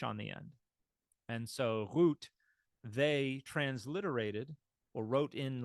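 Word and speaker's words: רות: do this one now here the VAV is functioning as a vowel again only now it's not the o sound it's a long u sound yes Ruth so uh root is how you uh could pronounce this now in uh the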